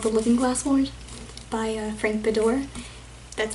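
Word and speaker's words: Frank Beddor: Because I read a book called The Looking Glass Wars by Frank Bedore. That's how you pronounce his name.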